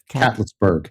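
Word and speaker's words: Catlettsburg: And how is this pronounced? Catlessburg. Catlessburg. All right. Cats. I think it's Cat Litzburg.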